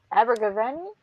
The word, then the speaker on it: Abergavenny: See, Wayne says his mom met Christopher Baggins in Abergavenny. Am I pronouncing that right? I don't think so. Abergavenny. You got me saying Abergavenny. Abergavenny. Abergavenny. Abergavenny. Okay. I had the stress on the wrong syllable.